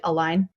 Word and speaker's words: Align: you do with align am I saying it right Al line yeah you are yeah um miles templin